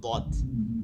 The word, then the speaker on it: ضاد: صاد এবার এর উপর যখন নুক্তা দিব তখন এটা হবে দদ। এই দদটা হচ্ছে ضاد এই জিহ্বা, জিহ্বা তো ভিতরে দেখাতে পারতেছেন, ধরেন এই একটা আঙ্গুল, এটা জিহ্বা, জিহ্বাটা তো এবার লাগানো থাকে, জিহ্বার দুই সাইড, ঠিক